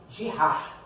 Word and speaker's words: Girard: Queridinhos, retomando aqui, vamos às relações de Girard, que é como se pronuncia ali.